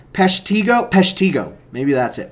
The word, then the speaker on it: Peshtigo: Peshtigo. Maybe that's it. Peshtigo.